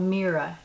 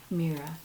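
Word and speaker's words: Meara: name of this sweater is called mira m-e-a-r-a mira and all the names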